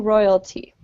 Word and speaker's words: royalty: There are free fleas for all the loyal royalty. Jose. There are free fleas for all their loyal royalty. Good. And don't roll your R's in English. Right? Yeah. Okay. At the beginning of the word, say royalty.